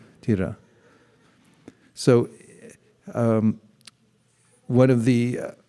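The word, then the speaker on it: dhira: do this is called tira spelled d-h-i-r-a-tira you pronounce the h like that try tira tira so um one of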